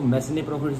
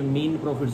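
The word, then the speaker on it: mesne profits: एस एन मीन प्रॉफिट इसको मैसने प्रॉफिट्स नहीं बोलते बहुत सारे लोग इसको मैसने प्रॉफिट बोलते पर ये मीन प्रॉफिट्स होता है इसमें एस साइलेंट है ओके और अरियर ऑफ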